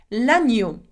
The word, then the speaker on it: l'agneau: And if you have watched one of my videos on E-A-U sound, you will know that E-A-U is the sound O. So, knowing that, it will be la-ni-yo. L'agneau.